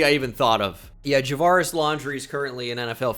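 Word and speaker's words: Javarris: free agent though um somebody has actually mispronounced his name as javara's laundry before it's so funny if you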